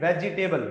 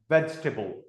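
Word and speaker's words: vegetable: वी डू not pronounce it वेजिटेबल। We Indian do but English में इसको वेजिटेबल ना बोल के इसको प्रोनाउंस किया जाता है। वेजिटेबल।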